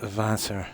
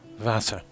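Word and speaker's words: Wasser: Randy are pronounced in German more like a V, isn't it? Like water is vassor, I think.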